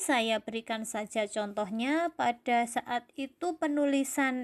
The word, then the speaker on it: saat: Misalnya kata saat. Nah, kata saat itu kan tidak kita baca sat.